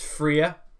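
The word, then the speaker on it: Fria: And we find her name is Freya. That is spelled F-R-I-A.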